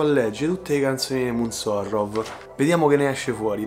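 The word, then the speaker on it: ρ: più attenti sapranno che quella che sembra una p in realtà Si legge ro e l'ho scoperto appunto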